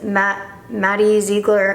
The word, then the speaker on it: Maddie Ziegler: So I'm gonna use this Maddie Ziegler, is that how you pronounce it?